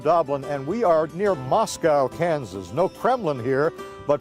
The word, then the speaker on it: Moscow: We are near Moscow, Kansas, or as the locals say, Moscow, but we're not going to go there.